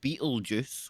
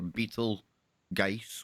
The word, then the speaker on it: Betelgeuse: or a beetle guys whatever way you want to pronounce I'm told both are actually correct I'll go with Beal juice because it sounds funny but I think you know guys sounds more intense like it's gonna blow